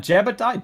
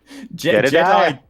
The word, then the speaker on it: Jedediah: Is that Jebediah? Jedediah? How do you say that, Kitchums? Jedediah. Jedediah. Oh, Jedediah, of course, yes.